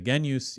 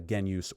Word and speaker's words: genius: And yes, I know it's spelled genius. I'm going to say genus even though in general I push back against these authentic Latin pronunciations because at the end of the day uh no one's calling him Kik Ra.